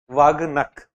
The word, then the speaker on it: Vagh nakh: Am I pronouncing it correctly? People from Maharashtra may correct me. Nahi? Nakh. Okay. Vagh nakh.